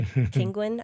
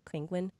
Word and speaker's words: Kinguin: We use Brad's technique of getting a, was it Kinguin? I don't know how to pronounce it. Like Penguin? Kinguin license? Mm-hmm. And then Kinguin.